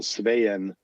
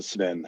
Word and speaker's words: Sven: It's actually 2 syllables, but we don't pronounce it that way here. The 2 E's are pronounced separately as an A and an E. So Sveen. Sveen. But we just shortened it. We just shortened it to Sven.